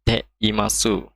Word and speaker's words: ています: Penjelasannya, pola Te Iru atau bentuk sopannya adalah Te Imas, Te Imasu, tapi ini dibacanya Te Imas. U-nya ini tidak dibaca, kurang dibaca.